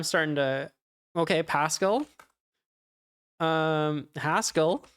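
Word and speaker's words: Haskell: to okay Pascal um hascal rhymes with Pascal um you've got your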